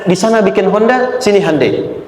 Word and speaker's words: Hyundai: Sehingga ketika di sana bikin Honda, sini Handai. Hyundai kan dibacanya Handeai ya kan.